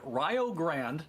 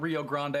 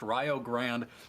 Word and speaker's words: Rio Grande: on game two between rayo grand not rio grande i promise we are not saying it wrong it is pronounced ryo grand versus springfield map one